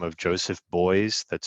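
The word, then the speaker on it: Beuys: a german artist by the name of joseph boyz that's spelled b-e-u-y-s and he created the term social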